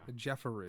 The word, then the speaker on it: Jeffery: Jeffery. Because it's E-R-Y. Oh, Yeah, okay. yeah. Jeffery. Jeffery. Yeah. Gotcha. I'll be And calling when you there's multiple Jeffery from Jeffrey now on.